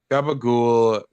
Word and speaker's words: gabagool: Gabagool. I mean, it's Italian slang technically. It's for like pork, I think. Yeah, gabagool is an Italian American slang pronunciation of capicola, a type of cured pork.